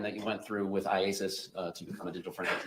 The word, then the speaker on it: IACIS: IASIS. IASIS. All right. I just want to shorten it for today. Yes. All right. So IASIS. Tell us about that program that you went through with IASIS to become a digital forensic examiner.